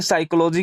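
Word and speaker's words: psychology: में बैठा लें ये साइकोलॉजी का स्पेलिंग होता है यहां पीस साइलेंट रहता है तो कुछ लोग यहां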